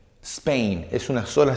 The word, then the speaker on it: Spain: cambia england perdón english spain esto es una sola sílaba no son dos sílabas nosotros porque somos hispanohablantes decimos spain cometemos el error y